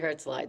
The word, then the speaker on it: Herzeleid: And the interesting thing about Herzeleid is that I hope I'm pronouncing it right. No, that's exactly right. Let's just say, okay, Alison's pronouncing it Herzeleid, so that's the way it is, okay?